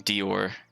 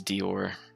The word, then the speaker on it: Dior: mother of six children brenda knight is saying dior i was gonna say i don't think i've ever tried pronouncing that out loud we've heard anybody say it before so that's good to know so keep in mind it's dior i think i think he